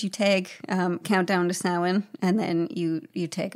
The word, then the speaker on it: Samhain: as brandon enjoys me saying samhain it is pronounced samhain he kept like it's like okay so is